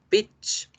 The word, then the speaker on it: bitch: Bitch, bitch. Su pronunciación se hace con la I corta.